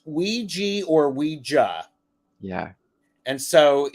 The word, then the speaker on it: Ouija: the wrong way to go about using the Ouija board that is because you attract you attract